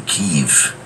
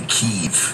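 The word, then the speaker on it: Kyiv: keeve tm wait no i think it's pronounced the keeve like by jason burchard who actually joins us this morning david in the chat saying keith is the ukrainian pronunciation okay we're not missing ukrainian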